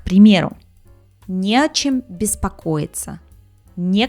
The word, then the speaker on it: не о чем: С предлогом вот это «не» ставится перед предлогом и пишется раздельно, но произносится слитно. К примеру, не о чем беспокоиться, не к чему стремиться.